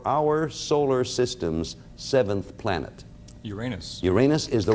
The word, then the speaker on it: Uranus: Uranus. Uranus is the right answer, and you blocked, Tim. He said it wrong. Okay. You were confused between Uranus and Orion there, Les.